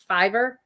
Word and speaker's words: Fiverr: site and it's called and i never say it right they always have to correct me but it's like fiverr f-e-v-e-r-r you know well and